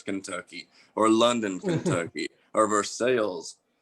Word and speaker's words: Versailles: or london kentucky or versailles or versailles if you want to pronounce the correct way i mean i would